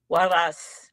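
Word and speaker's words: Juárez: Am I pronouncing this correctly? Juarez? Waras. Juarez.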